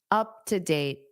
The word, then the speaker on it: up-to-date: Up to date. Up to date. Now, here because date ends the sentence, and you naturally take a pause anyway, you can pronounce that T.